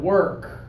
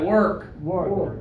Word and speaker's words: work: work or work so lips forward but open work okay give it a try work okay but push those lips forward and open that's better you're doing